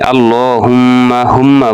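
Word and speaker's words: اللهم: আল্লাহ বলি ল মোটা হবে। আল্লাহুম্মা বলি হুমের ভিতরে গুন্না হবে।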